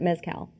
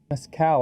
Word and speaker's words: Mescal: Is it Paul Mescal or is it Mezcal? Mescal, I think is how Mezcal. dumb Americans pronounce it, so that's how we pronounce it.